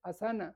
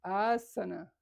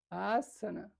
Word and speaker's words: asana: Y no se dice asana, se dice asana, asana.